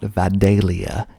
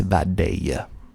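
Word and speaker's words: Vidalia: that comes out of vadaya georgia called the vadaya onion you've probably had one before that's what they are most famous for that day it's not vadalia it's vadaya next we got americas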